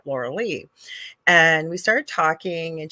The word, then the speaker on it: Lorilei: restaurant was called Lorilei, but it was spelled the same way as my name is spelled, but I say it Lorilei.